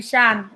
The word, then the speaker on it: Chann: for lady charm um my name you can pronounce it lady shan it shout i'm sorry chan chan right yeah i'm